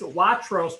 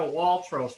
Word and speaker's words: Watros: It is Watros property, not a Waltros property. There's no L in the property as you find in the properly spelled in the application.